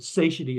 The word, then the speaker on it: satiety: They're described as being the satiety center, satiety center, but satiety is the way it's typically pronounced.